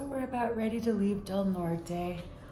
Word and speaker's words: Del Norte: So we're about ready to leave Del Norte, or Del Norte, as one local just called it, Del Norte Peak. But Del Norte seems like it's how it's supposed to be pronounced.